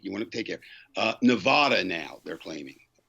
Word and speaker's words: Nevada: Nevada now, they're claiming, right? Mm-hmm. Or Nevada, as you're supposed to pronounce it if you live out there.